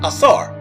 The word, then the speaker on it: Osiris: kemet are named after osiris the egyptian pronunciation asar so your name after